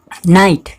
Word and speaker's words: night: क्या बोल रहे थे हम कि GH के बाद अगर T हो तो GH के उपरांत अगर T हो तो उसका GH का उच्चारण नहीं किया जाता है। यहाँ पे देखिए नाइट, इसको हम क्या पढ़ते हैं, नाइट।